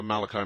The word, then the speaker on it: Malachi: The Father Malachi, is it? Yes. Okay, pronounced it right.